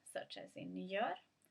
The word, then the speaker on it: gör: So G followed by Ö is as in the word gör is soft, so it's almost like a y sound, like a y sound, soft y sound, or like the Swedish j, y.